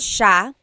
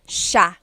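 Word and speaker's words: siya: to point out about sha. First is the pronunciation. It looks like it should be pronounced sa cia. But it's actually pronounced sha sha. So the s i y it's a sha sound.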